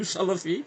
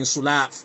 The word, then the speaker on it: Salaf: Imagine how if you can't say Salaf rightly, you're saying Sulaaf. Sulaaf means alcohol.